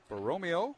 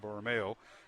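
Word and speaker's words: Borromeo: St Ambrose Cathedral also Jude bomeo boromeo Boro thank you had the accent on the wrong Sal once again B Romeo uh Max Brown uh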